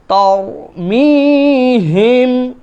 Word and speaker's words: ترميهم: ওয়া আরসালা আলাইহিম তয়রান, তয়রান, ত ত তয়রান আবাবিল, তারমিহিম, এটা হচ্ছে ছোট হা, তারমিহিম বিহিজারাতিম মিন সিজ্জিল ফাজআলাহুম, ফাজা জিম, হ্যাঁ, ফাজআলাহুম কাআস, কাআস, কাআসফিম মাকুল।